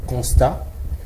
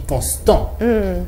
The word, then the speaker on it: constat: Que le mot constat est constamment mal prononcé. Vraiment. À la place de constat, on dit constant. Or que c'est pratiquement deux mots différents. Vraiment. Il y a un N qu'on laisse glisser pour parler de constant au lieu de constat.